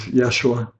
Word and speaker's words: Yeshua: acceptable to him but he prefers to be called 'yeah sure with the jae-sang likho why and the accent on the second syllable yeshua so I shall refer